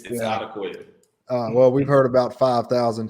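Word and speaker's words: Odukoya: It's Odakoya. Well, we've heard about 5,000 pronunciations of Tua's name since he was a freshman in college.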